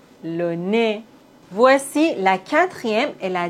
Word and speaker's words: nez: Le nez. Voici la quatrième et la dernière règle. Dans la langue française, on ne prononce pas le H comme si ça n'existait pas du tout.